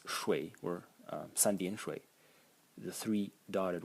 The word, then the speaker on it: 水: And the semantic elements, these three strokes over here, pronounce shui, or 三点水, the three dotted water, water.